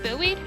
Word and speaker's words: buoyed: Skyla's suspension seems boyed somehow happier than you'd last seen her. That's Is that pronounced buoyed? Like a buoy in the water. But he said like boy two different things.